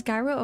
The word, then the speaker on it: gyro: It's like a gro or do you guys pronounce it as gyro or guro? I think it's guro rightwarma but with a sweet sauce.